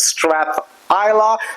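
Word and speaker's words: Strathisla: Strath Isa it's spelled like this but it's pronounced Strath Isa it was founded in 1786 so what's special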